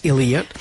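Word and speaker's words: Elyette: Là, ça s'écrit comme Ili là, ça se prononce Elliot.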